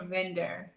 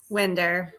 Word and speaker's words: Winder: most folks, but Verina, is it Winder or Vinder? Yes, Winder.